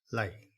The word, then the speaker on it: 嚟: 今日嘅助詞係嚟，嚟第四聲調。